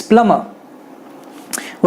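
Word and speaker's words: plumber: प्लम्बर गलत है, प्लम्बर, इसमें ब आता ही नहीं है, इट्स प्लम्बर।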